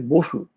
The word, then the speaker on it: Bose: Gell-Mann immediately stood up and said, "Oh no, it's not Bose. You see, the original Bengali name is Bosu.